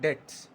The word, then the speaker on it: debts: पहले इसका प्रनंसीएशन देखेंगे तो बीटीएस तो जैसे हम डेटम में बी साइलेंट रखते हैं तो वैसे ही इसमें भी साइलेंट होता है और हम लोग इसको सिंपली पढ़ने हैं डेट्स ठीक आप यहां तक